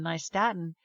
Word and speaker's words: nystatin: nystatin, which is spelled Nystatin. Statin, like New York and Staten Island, nystatin.